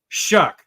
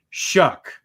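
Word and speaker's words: Shough: Shuck. Sorry, not Sluck. Oh. Shuck. That's how you say it. I know that it looks weird, but it really is.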